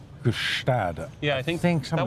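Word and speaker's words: Gstaad: Gustad. Yeah, I think something that was like good. I don't know how the Swiss pronounce it. It's like the G-Stad, like the G unit.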